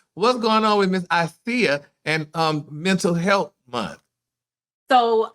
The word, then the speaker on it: Icia: Now, you pronounce it, is it Icia? Icia. Icia.